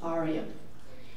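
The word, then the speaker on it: AREAA: It's Asian Real Estate Association of America, pronounced as ARIA.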